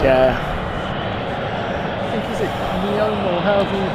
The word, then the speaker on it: NEOM: I think, is it Neom or however you pronounce it? Yeah, Neom.